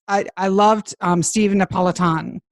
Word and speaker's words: Napolitan: I loved um Stephen Napolitan. I said it right. Right. Not Neopolitan ice cream and the work life balance.